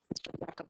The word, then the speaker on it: Jakob: Jacob disease, I think is actually the correct pronunciation.